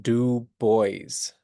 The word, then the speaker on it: Du Bois: boys and it's pronounced du boys he's an American you know it looks like a French name or you might say du but don't say that it's du Bo and